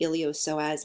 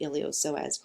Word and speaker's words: iliopsoas: a group called the iliopsoas muscles or the iliopsoas group so the P is silent here separately they are the